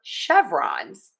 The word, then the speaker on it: chevrons: And then we are going to stress syllable number one in chevrons. Chevrons. Chevrons. Chevrons. Chevrons. Yes. end in that Z sound.